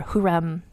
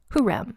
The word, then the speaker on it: Hürrem: going to I'm just going to call her huram as her name throughout because at least we